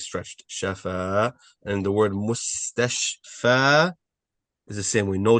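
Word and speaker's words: مستشفى: Spell it for you guys. Mim with a dhamma, mu. Sin, mus. Ta, fatha. Mustash. The sheen has a fatha, a sukun. Mustashfa. And the fa is stretched. Mustashfa, which means hospital, which means hospital.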